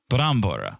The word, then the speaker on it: brambora: Brambora? Brambora, right?